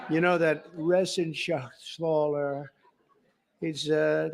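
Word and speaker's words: Reschenthaler: thank you and Guy Ren Shaler you know that Ren Shaler he's uh that's actually the way you pronounce it you know nobody else gets it right I got it right but it's a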